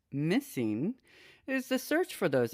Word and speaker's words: MSSNG: The MSSNG project, pronounced Missing, is the search for those answers, and we're going to find them, said Liz Feld, president of Autism Speaks.